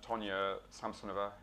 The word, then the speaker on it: Tonya Samsonova: And Tonya Samsonova, have I got that pronunciation right?